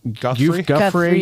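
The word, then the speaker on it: Giuffre: Guffrey.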